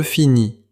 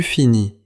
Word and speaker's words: finis: Dans je finis, tu finis et il finit, les lettres finales S ou T ne se prononcent généralement pas.